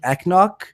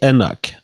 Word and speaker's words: Enoch: Sorry, I can't pronounce his last name. Mike Eknock. Mike Enoch.